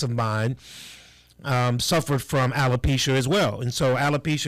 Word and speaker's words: alopecia: suffers from um how do you say it appalachia alopecia alopecia which is a condition of hair loss